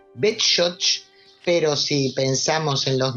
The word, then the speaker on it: Beshotsh: bech Sí bueno eh los judíos en idis llamaban a esta localidad betoch pero si pensamos en